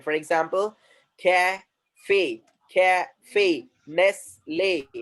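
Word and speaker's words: Nestlé: the words that are ending with acute accent, and the sound will be something different. For example, cafe, cafe, Nestle, Nestle.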